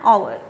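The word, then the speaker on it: hour: एच ओ यू आर, इसकी pronunciation हार नहीं होती है, एच से नहीं होती, एच इज साइलेंट, इसकी प्रोनंसिएशन होती है आवर, किसकी साउंड देता है,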